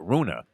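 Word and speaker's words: Rune: Russian beats a holgar at Runa is how he pronounce his last name 19 year old kid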